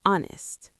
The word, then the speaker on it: honest: Well, there are some words where H is silent, Like what? like hour or honest.